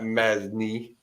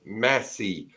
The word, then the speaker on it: Massey: Not Masney, it's Massey.